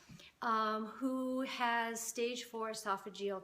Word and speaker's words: esophageal: who has stage four esophageal cancer and is that how you say it yeah yeah all right you said it right and um we're just